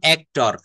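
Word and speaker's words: actor: যেমন অ্যাক্টর, এটা বলবে অ্যাক্টো, brother, he ইজ my brother, Karim is my elder brother, brother.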